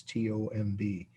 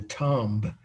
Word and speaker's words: tomb: Tomb, and I think most people know that's T-O-M-B. I used to drive my teachers crazy when I would read an oral report and say the tomb of Alexander the Great or Julius Caesar or something.